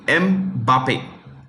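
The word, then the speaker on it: Mbappé: he finished runner-up to mbappe that's how you pronounce it m Bape okay next Golden Globe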